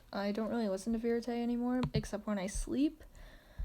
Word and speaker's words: Vérité: So, apparently it's Vérité, and it's called Think of Me by Vérité, and it's just about, I think it's a good song.